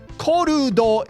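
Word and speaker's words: コルド: Yeah, I know this looks weird, but korudo is not a word in Japanese, and the best approximation that we can get to what korudo would be in English is something like called or cold.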